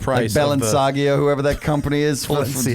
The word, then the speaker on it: Balenciaga: of the- Balenciaga, whoever that company is, for Balenciaga.